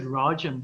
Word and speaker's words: Rajan: word in my school people pronounced my name correctly they said rajan it was like ah